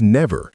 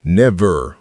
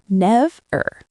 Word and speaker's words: never: Yes, the correct pronunciation is never, not never, with stress on the second part. The stress is on the first syllable, never, never, Let's say it together.